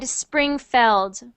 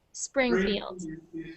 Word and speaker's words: Springfield: the word Springfield and you said springfeld or springfeld so just the way that you said it now was perfect Springfield if I'm not wrong